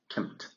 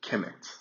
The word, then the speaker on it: Kemet: So, because there are no vowels in this KMT, people usually call it Kemet, which is Kemet. But I prefer to just call it Kemt because I believe that pronunciations, pronunciations mean something, they're important.